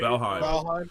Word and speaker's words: Valheim: How do you say Valheim?